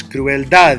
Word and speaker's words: crueldad: Where do I raise my voice? Crueldad. You hear the diaphragm tighten.